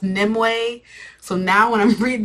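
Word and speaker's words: Nimue: at this point um I was calling her nimu but I guess her name is it's pronounced nimway so now when I'm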